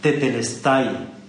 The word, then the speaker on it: tetelestai: Y entonces, cuando Jesús hubo tomado el vinagre, clamando otra vez a gran voz, dijo una palabra en griego que se pronuncia así: tetelestai, que significa consumado es, la cuenta está saldado, el pago por los pecados de la humanidad están satisfechos.